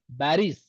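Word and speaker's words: باريس: are you a Pakistani in Arabic language there is no P all the P sound will convert into B in Arabic always remember Paris how do you say baris every piece will turn into ba in Arabic because there is no pa in Arabic only ba.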